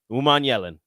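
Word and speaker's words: Umanmielen: And again, in case anybody's wondering, this is how you pronounce Prince Will's last name. Uman Yellen. Prince Will Uman Yellen.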